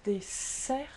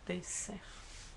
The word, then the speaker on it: dessert: you want, which is pronounced as dessert with an S sound because there's two vowels and there's two S's, therefore dessert.